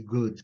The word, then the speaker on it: good: Sem o prolongamento, né? E é good. Assim, o U é mais é mais da garganta, né?